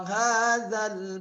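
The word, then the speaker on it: هذا: Ya, jadi bukan wa hadzal baladil amin, ya. Misalnya Bunda Denis ya, Denis. Ya, kemudian wa hadzal za-nya diginiin ya. Wa hadzal baladil amin. Bacanya jangan sampai wa hadzal zal.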